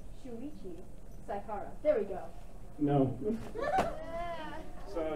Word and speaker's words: Shuichi Saihara: Shuichi Saihara.